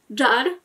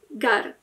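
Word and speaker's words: جار: Jar, czyli sąsiad, w Egipcie będzie Gar.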